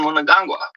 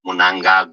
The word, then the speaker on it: Mnangagwa: it be about Emerson Mnangagwa. I'm going to say that again, Mnangagwa, because I didn't pronounce that properly. I said it like a white man.